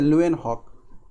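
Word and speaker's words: Leeuwenhoek: ठीक है, ल्यूएनहॉक। स्पेलिंग अगर बोलना चाहे तो हम बोल देते हैं LEVWENHOK।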